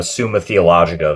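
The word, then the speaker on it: Summa Theologica: You know, actually before I go, I I just ordered um a copy of the Suma Theologica, that's how you pronounce it.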